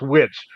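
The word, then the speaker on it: Witich: named witch but it's spelled w-i-t-i-c-h but it was pronounced witch it was not a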